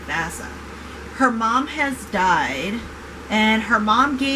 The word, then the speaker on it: Vassa: the preludes and interlude we learn about vassa that's how you say her name vasa her mom has died